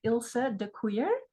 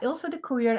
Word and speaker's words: Ilse DeKoeyer: Ilse DeKoeyer. It's Dutch, and so that's why it's a little bit complicated to pronounce. But yeah, Ilse DeKoeyer, and I worked at the University of Utah for 23 years.